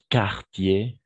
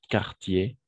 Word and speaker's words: quartier: Donc, qu'un, quatrième, quatre, et quartier, OK? Quartier, quartier. On saute le U, quartier, quatrième, quatre, quand, etc.